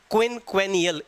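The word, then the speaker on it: quinquennial: और देखिए इसमें 1 इन 5 ईयर्स, ये 5 साल में एक बार होता है, इसे बोलते हैं क्विनक्वेनियल। इनियल आएगा, क्वैनुअल नहीं, इनियल।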